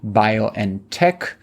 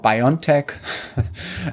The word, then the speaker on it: BioNTech: They get a 340 million euro payout from their investment in the Mainz-based BioNTech, which is the German pronunciation of what Americans call BioNTech.